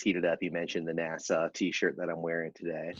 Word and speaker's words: NASA: right are you saying you say the name of the space agency like the yeah it's New York you said like the county in New York Nassau yeah I do say it wrong what how are you supposed to say it NASA NASA yeah better there you